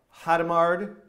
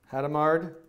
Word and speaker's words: Hadamard: D outputs that's the hata mard Hadamard how do you say that again Hadamard Hadamard product I'm gonna write a